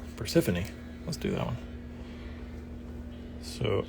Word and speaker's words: Persephone: O vowel on top Persephone so the E is pronounced so we'll do that